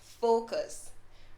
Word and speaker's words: focus: that one right because usually what you hear is a uh sound instead of the short o sound instead of a long o sound sorry so instead you